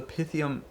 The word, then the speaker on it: Pythium: a part of the pythium Saga and I'm calling it pythium now cuz it's the proper pronunciation I I guess I was calling it pythium so there's been this